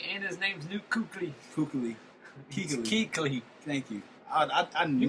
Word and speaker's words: Kuechly: Kuechly.